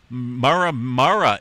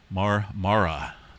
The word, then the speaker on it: Marmara: Notice a lot of twos, threes, and fours out there around the Mara Mara area.